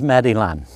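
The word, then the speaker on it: Meilland: famous House of Meillon, sometimes pronounced here in the US as Meadyland.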